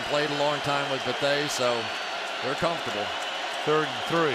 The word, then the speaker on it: Bethea: By the way, a lot of people call him Bethea. We're calling him Bethea.